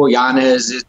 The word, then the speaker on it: Yañez: Yañez. But hey, look, if you're all about the Hispanic heritage and like the pronouncing it correctly, yes, please do that for